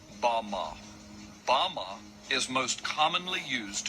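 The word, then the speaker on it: בָּמָה: which satan fell is strong's hebrew word 1116 pronounced bama bama is most commonly used to refer to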